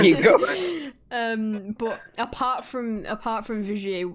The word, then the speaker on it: Vigier: Well, I don't know what the word is, but it's very French. Yeah. Oh yeah, it's a French brand, isn't it? Oui. There you go. But apart from Vigier, like what model or